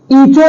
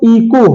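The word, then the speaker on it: echo: ईचो नहीं है, ईचो, ईचो नहीं है, इको है, इको मतलब गूंज, एच बिल्कुल साइलेंट है।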